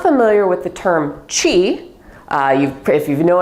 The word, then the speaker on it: Qi: familiar with the term Chi uh you've if you know anything about acupuncture traditional Chinese medicine you've probably heard the term Chi people spell it either Qi or Chi they're used interchangeably often